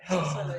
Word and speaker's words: Subsuelo: Subsuelo, yes. Oh, Spanish, trying to pronounce things in Spanish gives me so much anxiety.